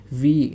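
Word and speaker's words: wie: হাউ মানে হচ্ছে কিভাবে যেটা আমরা বাংলায় বলে থাকি আর এটাকে জার্মান ভাষায় বলা হচ্ছে ভি এটা হচ্ছে উচ্চারণ হবে ভি হয়াট হয়াট মানে হচ্ছে কি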